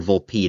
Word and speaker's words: Volpe: Wasn't much help in this circumstance because apparently that can be pronounced vulp vulpe or vulpi depending on where you are from.